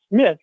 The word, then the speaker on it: Smythe: Yes, it's spelled with a Y, which can be Smith or Smythe. In England, it's Smythe. In America, it's often Smith.